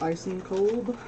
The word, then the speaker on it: Eisenkolb: This is the Directions sweater by Claudia Eisenkolb.